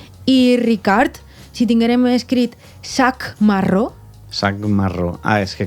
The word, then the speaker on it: sac marró: fa és la K, la C, que és pronunciada com una K, l'arrossega, li dona sonoritat. I aleshores l'equivalent és la G. Sac marró, sac marró.